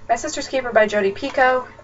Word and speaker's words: Picoult: Sister's Keeper by Jodi Picoult. It is pronounced Pico.